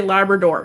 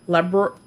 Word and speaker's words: Labradorite: I want to say Labrador because I have a Labrador Retriever. Labradorite. Labradorite. Labradorite.